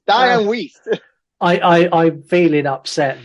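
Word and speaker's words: Dianne Wiest: And it's Dian West. Diane West. West tomato. Tomato. There's two different words alto together. It's dian waste.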